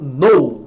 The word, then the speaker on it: know: O K no começo de uma palavra, quando é KN, jamais você pronuncia o K. Então, verbo know, né? Quais são as formas do verbo know?